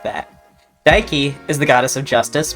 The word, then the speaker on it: Dike: It's Dike. If you say it the way that rhymes with bike, it's a derogatory term for lesbians. So don't say it like that. Dike is the goddess of